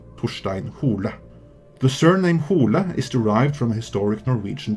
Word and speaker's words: Hole: own demons Harry Hole actually it is pronounced Hardy hula so you don't really have that double meaning in Norwegian the character is named after